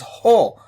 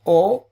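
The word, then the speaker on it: ὁ: The next word, which is basically a letter, it's pronounced as ho, not o, ho, as in H-O, but actually there's a omicron with a diacritic on the top.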